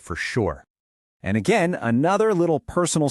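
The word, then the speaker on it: Southwark: Looking at it, your brain probably wants to say Southwork. Even our host admitted she got this one wrong for ages when she first moved there. But nope, it's just two quick syllables. Sur. That W and that O in the middle, they just sort of vanish. It's fast. It's efficient. It's very London.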